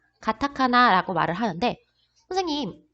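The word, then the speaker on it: カタカナ: 라고 말할 수 있어요 자 이 카 라고 원래 발음은 카 지만 가장 앞에 왔을 때는 발음을 쌔게 하지 않고 조금 약하게 하는 경우가 있습니다 그래서 카타카나 라고 발음 하기 보다는 가타카나 라고 발음하는 것이 좀 더 자연스러운 표현 입니다 그리고 세번째는 요 상용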